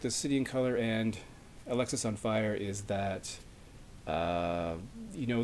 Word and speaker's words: Alexis On Fire: approach by the way I heard someone pronounce Alexis on fire as Alex is on fire and I've confirmed that that is not correct it's Alexis on fire so this is actually